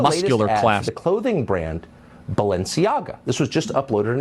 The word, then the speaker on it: Balenciaga: talks about I don't even know how to pronounce this company's name Bella chiaga I guess that's right I don't know yeah Balenciaga okay yeah I'll play cut 58.